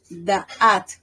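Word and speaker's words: דעת: En hebreo es da'at, con T al final.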